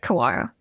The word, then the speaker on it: Kawara: um give us an introduction to your product and and I'm Is it pronounced Kawara? Yeah, Kawara worst it is.